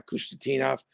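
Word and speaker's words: Khusnutdinov: You know, we saw the Russian kid that I'm not going to pronounce. You can, you know, Kustadinov. Yeah. Kustadinov.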